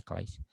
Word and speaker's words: Christ: Christ, sabi ni Christ. Ganito sasabi. Christ. Jesus Christ. Nakuha niya. And then later on, na-improve.